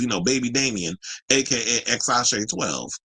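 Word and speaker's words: X Æ A-Xii: know baby Damian AKA xash 12 which is how you say his name so you got Nevada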